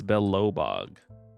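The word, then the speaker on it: Belobog: I spelled it with every wrong syllable. I spelled Belellbog. Belellabog. It's Belobbog.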